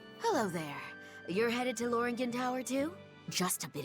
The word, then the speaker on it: Lothringen: Lord, I forget how they pronounce this. It's not how it looks. It's like Lothringen. Lothringen.